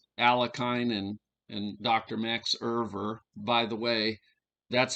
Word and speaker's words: Euwe: so most of you listening already know a bit about alakine and and dr max irver by the way that's how his name is pronounced irver so so let's uh take a